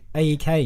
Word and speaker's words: A3K: Is he just called like AEK? AEK, Except the A is like a 3, so it's A3K.